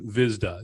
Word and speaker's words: Hvizda: here today with vizda yes the h is silent guys so it's visna